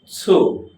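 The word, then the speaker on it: つ: ওকে, তারপরে পরবর্তী যেটা শিখবো সেটা হলো ছু, উচ্চারণ হবে ছু। আগেরটা ছিল শুধু সু, আর এখন খণ্ডত্ব সু, তাহলে উচ্চারণ অবশ্যই একটু ভিন্ন থাকবে।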